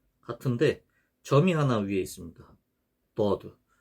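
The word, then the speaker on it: ض: bird. 이 bird 경우에는 이것도 둔탁한 D 발음입니다. 둔탁한 D. 아까 우리 달 배웠었죠. 달. 달보다도 이제 둔탁한 거죠. 그래서 bird, bird.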